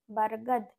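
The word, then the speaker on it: बरगद: হলো তাহলে ঘার ব র ক তাহলে এই উচ্চারণটা হবে কি আব্রাক আব্রাক মানে হলো অভ্র নেক্সট হচ্ছে ব র গ বারগাদ বারগাদ মানে হচ্ছে বটগাছ নেক্সট হলো প ল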